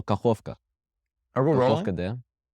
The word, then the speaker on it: Kakhovka: Dave, say Kakova. Kakova. No, well, is that the name? Is that how you would pronounce this? Or is it Kakhovka? Oh, Kakhovka.